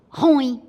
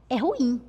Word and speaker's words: ruim: Se é ruim, eu digo ruim. Eu cometi um barbarismo. Por quê? Porque eu desloquei a sílaba túnica da palavra. A sílaba túnica é im. E por acaso você sempre ouve as pessoas pronunciarem. É ruim, hein? Mas está do ponto de vista da norma culta incorreto. Correto é ruim.